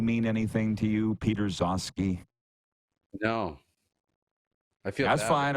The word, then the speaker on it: Gzowski: Peter Zosky? No. I feel that's bad fine. Okay. Are you getting a lesson here today? Folks, sorry, Producer Clark, can you please Google Peter Zosky? It's spelled Gzowski.